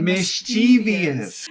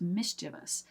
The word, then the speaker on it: mischievous: is mischievous ooh but you will hear so many Americans Say mischievous so many of us will say mischievous instead but it's mischievous is how it is actually supposed to be pronounced this one's surprising because